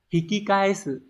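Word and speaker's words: 引き返す: Hikikaesu. Từ này đọc là hikikaesu.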